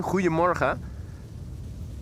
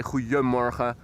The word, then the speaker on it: goedemorgen: You can also replace the D with an I, and it will be what I'm more or less phonetically saying, goedemorgen. It does have a D in the official writing, goedemorgen. Most people say goedemorgen, and instead of pronouncing a D, you pronounce an I, which with all the other letters sounds like goedemorgen.